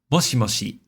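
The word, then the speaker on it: もしもし: And as you can see, I wrote that um the first mo is highest pitch. Uh like high pitch and then the rest is low pitch. Moshi moshi. Moshi moshi.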